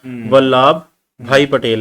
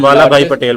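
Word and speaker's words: वल्लभभाई पटेल: सरदार वल्लभ भाई पटेल, प्रोनाउंसिएशन में last time mistake हुई थी, तो कमेंट में व्यूअर्स ने बताया था वल्लभ भाई पटेल है, हम वाला भाई पटेल बोल रहे थे।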